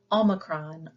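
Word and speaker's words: ὄμικρον: And then we have omicron. Omicron, it looks like a letter O, but we pronounce it with the ow. So as in often.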